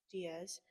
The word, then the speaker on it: Diaz: other in, what did we say that it's pronounced? Diaz.